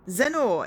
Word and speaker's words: Zennor: I've always thought of Zennor as a funny name. It sounds like Lenore. Ah, Zennor.